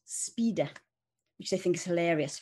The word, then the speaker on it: spider: to me partly because in italian it's pronounced speeder which i think is